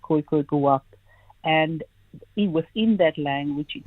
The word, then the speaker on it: !Khūboab: And it's generally Khūboab, but I say Khūboab, and most people call him Khūboab because people struggle with the clicks itself.